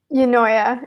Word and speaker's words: Eunoia: Is that Enoa? Eunoia.